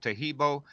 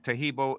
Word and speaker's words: Taheebo: The only tricky part is how to spell Taheebo, and Taheebo is spelled T like Tom, Aheeb like boy O.